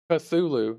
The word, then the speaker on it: Cthulhu: me yesterday how to pronounce Cthulhu and it's pronounced a Sulu and it's spelled c th u l hu